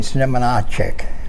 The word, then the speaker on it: Znamenacek: I'm going to call you, but I'm going to let you pronounce the last name. So go ahead, please. Znamenacek.